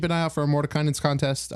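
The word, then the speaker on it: Mordenkainen's: Yeah, the Mordekainen's.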